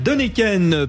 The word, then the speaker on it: Deneken: nous a avons la joie de recevoir Michel denken président de l'Université de Strasbourg depuis 2016 je le prononce bien cher Michel de NEKEN très bien très bien très bien merci voilà